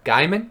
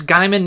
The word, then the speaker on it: Gaiman: at work Neil Gaiman Gaiman know Neil Gaiman Guymon its Guymon now that's I think it used to be